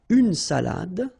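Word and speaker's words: salade: Cafe all right so salad same thing here final uh you don't insist on it it only gives you the pronunciation of the previous letter so d salad salad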